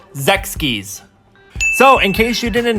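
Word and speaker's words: Sechs Kies: right now so yeah the group name is pronounced Zechs keys so in case you didn't know his stage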